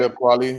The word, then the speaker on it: Talib Kweli: Talib Kweli.